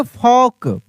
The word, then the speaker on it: folk: जैसे अगर लिखा रहता है यहाँ पे FOLK, FOLK, तो इसको पढ़ेंगे फॉक।